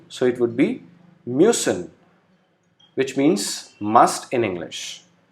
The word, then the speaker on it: müssen: Then U with umlaut is pronounced as U. Example, müssen. U is with umlaut, pronounced as U, so it would be müssen, which means must in English.